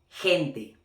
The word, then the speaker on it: gente: But now, when G is next to E or I, it's gonna have the phonetically sound of, like in English, H. Okay, or like la J in Spanish as well. Okay, like ejemplo, gente.